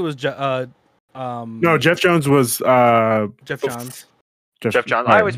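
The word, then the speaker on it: Geoff Johns: Jeff Johns. Yeah, I always pronounce Jeff it wrong, John.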